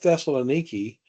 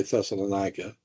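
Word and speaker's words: Thessaloniki: Now, you realize that the people at Thessaloni today, that's how you say it. People say Thessalonica.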